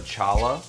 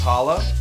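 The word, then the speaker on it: challah: yeah have you ever had that Jewish bread Chala no I I've had Hala oh it's pronounced Hala yeah I love that bread ah so I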